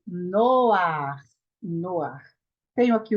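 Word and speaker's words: נֹחַ: Então, aqui é Noar, Noar, Noar, e não Noha. Não é Noha, é Noar.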